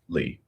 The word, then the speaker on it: Leigh: Or Lay? Lee. Okay, Lee. Bro, where'd you get Lay from? Leigh. It's Lee. Lee.